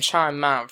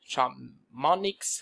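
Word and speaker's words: Chamonix: 1924 winter olympics in chime mount france i think that's how you say it chomp monix france so like that but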